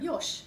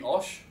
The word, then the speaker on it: Yosh: What do you call him with a silent J? Yosh. Wouldn't it be Osh? No. Okay. We call him Yosh.